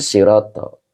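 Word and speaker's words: صِرَاطَ: ini makanya ini dibacanya sirato Mas Yanto terima kasih Jadi sirato ini kenapa dibacanya nasab karena dia Badal ya Badal dari mubdal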